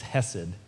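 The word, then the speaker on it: חסד: Hebrew words is, and I won't pronounce it right because it'll it's got to come from the back of your throat. It's hessed.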